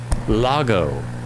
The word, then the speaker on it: Lago: It's It's L A G O, not E. Ah, it's not Lego. Loggo.